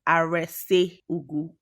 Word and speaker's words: Arese Ugwu: Even in Nigeria, like with the different tribes, different people pronounce things differently. My name is Arese Ugwu.